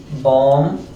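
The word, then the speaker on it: bomb: पर लिखा हो MB अगर कहीं पर लिखा हो MB काफी सारे शब्द है जहां पर MB लिखा होता है वहां पर जो भी होता है वह क्या होता है साइलेंट होता है उसका साउंड नहीं किया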